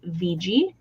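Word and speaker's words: Wiggi: is spelled w-i-g-g-i but in German W's are pronounced as V's so his name is VG um so he's very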